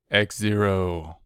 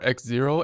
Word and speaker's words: Xero: great guitars file for x0 and by the way you might just call it zero here I typically call it x0 helps me to spell it so I'll probably be